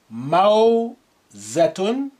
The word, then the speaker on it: موزة: موزة موزة. Wow with sukun sound ow.